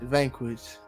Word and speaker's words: Vanquish: u i c h Vanquish no bro damn you was right right there too my boy v a n quu i s h ah I said CH then yeah damn all